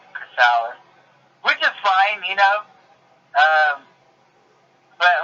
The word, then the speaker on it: Chrysalis: I mean, a lot of people, a lot of people pronounce it Chrysalis, which is fine, but like, what I hate is when people will like add letters to it.